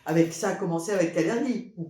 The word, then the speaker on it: Kalergi: ça a commencé avec Cergi ou cergie je sais pas comment on prononce cergie ça dépend à l'allemand à l'allemande c'est kalergi je CIS c'est ça moi